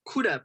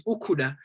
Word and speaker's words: Kuda: me my name is kuda people call me kuda although he gives me she says okuda i guess it's how you say it in zulu which is okay but